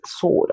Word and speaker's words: sword: so that word is sword not sword because the W there is silent and that's supposed to